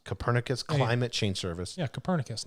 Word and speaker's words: Copernicus: the european union's how do you say this cornipekis copernicus copernicus climate change service yeah copernicus nicholas copernicus yes